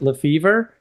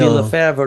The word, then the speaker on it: Lefebvre: So we've Americanized it. So we usually pronounce it Lefebvre, but in France, it would be Lefebvre, Lefebvre.